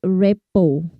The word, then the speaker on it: rapport: And this help you to create rapport. R-A-P-P-O-R-T. But the way we pronounce it, we silent R and T.